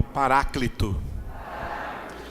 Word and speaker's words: paráclito: escrito em grego e em baixo está escrito a maneira de pronunciar o grego diga pará cleton sons em português se diz diga paráclito essa palavra tem um